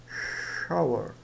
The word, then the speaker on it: shower: quarto com banheiro né shower o esse ch tem o som do CH de chamar esse w da u né bogu e o R né que Já estudamos ou dá um a ou um er né er então xa shower ou shower I would